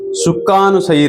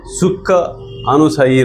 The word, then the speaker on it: Sukhanusayi: We'll try to pronounce this pronunciation, this shloka. Sukhanusayi Raga. It's a very small 3-word sutra. Sukha Anusayi Raga.